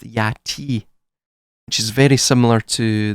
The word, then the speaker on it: Aten: the linguists state, that it wasn't pronounced Aten or Yaten or Aton, it was pronounced Yati, which is very similar